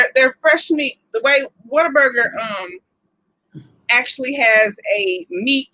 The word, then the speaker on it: Whataburger: um that was a whataburger and you just said it wrong i didn't say watch your burger i said what a burger whataburger oh okay okay matter